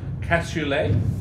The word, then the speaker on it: cassoulet: And Nadine is suggesting, and I'm going to get my pronunciation correct, a cassoulet.